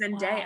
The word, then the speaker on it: Zendaya: I just got told it's Zendaya, not Zendaya. I also thought it was Zendaya. I thought it was Zendaya too. It's Zendaya.